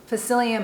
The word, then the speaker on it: psyllium: for a week um i recommend having facilium husk on hand it's spelled p s y l l i u m and then husk h